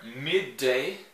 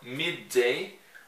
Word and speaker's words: midday: Mas eu tenho como falar midday, não é midday, não, a gente não pronuncia esses dois Ds, a gente fala midday, ou então, que não é muito utilizada, viu gente?